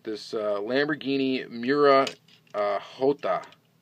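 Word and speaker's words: Jota: uh Lamborghini mura uh hot I guess is probably the correct pronunciation of it supposed to be the Spanish uh pronunciation for the letter j and I believe in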